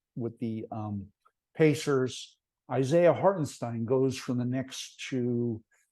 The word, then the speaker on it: Hartenstein: games and people are like yeah no it's hartenstein oh okay I was pronouncing it wrong the whole time so um Isaiah hartenstein to um Oklahoma City which is a nice